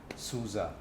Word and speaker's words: SUSE: and needs for our customers so the right pronunciation is souza okay now i've got the promise right souza okay now what does susa do okay so